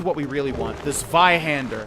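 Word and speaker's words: Zweihander: The Vihander. I think I'm pronouncing that correctly in the German pronunciation.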